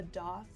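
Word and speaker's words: daith: will help it's um they call it a a doth piercing but it's spelled d a t h like Faith with a D um and I had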